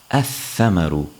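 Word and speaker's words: الثمر: Tha, which is another sun letter, so thamarun as a definite noun would be pronounced ath-thamaru without pronouncing the lam.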